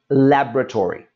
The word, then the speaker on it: laboratory: for the most part we're going to drop that middle syllable and this will become laboratory much easier to say and when you see